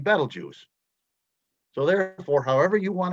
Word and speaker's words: Betelgeuse: have do not agree there's two pronunciations for betelgeuse we're told we're supposed to be saying battle juice so therefore however you